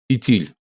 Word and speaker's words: Итиль: Итиль. Атал и Итиль - это, по сути говоря, два варианта произнесения одного слова.